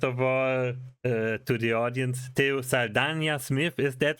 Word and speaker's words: Teo Saldana Smith: Um, first of all, to the audience, T Salana Smith, is that right? Is that the right pronunciation of your name?